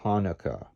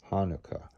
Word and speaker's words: Hanukkah: um separated as before and hanukkah emphasize the first note i've got a tenuto marking over it and the second syllable should be the vowel as in book hanukkah book hanukkah with your corners of